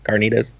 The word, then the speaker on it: carnitas: Carnitas. Yeah. If you want to roll the R, it's carnitas.